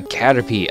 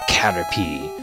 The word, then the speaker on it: Caterpie: Alright, we got ourselves a Caterpie! Or Caterpie, sorry. Whatever. Or it is Caterpie. What is that the IE... The I in the name is actually kind of have this silent thing.